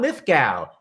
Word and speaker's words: Lithgow: I said, John Lithgow. And he said, it's go. And I said, then why the hell is there a W in your name?